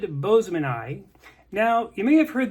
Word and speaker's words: boesemani: scientific pronunciation would be Boseman ey as in Mr Boseman had a good eye for finding new species of fish Boseman ey anyway that's how people